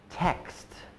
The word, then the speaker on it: text: even more difficult one text this is because you have a t after it so you're making three consonant sounds in a row Tech x t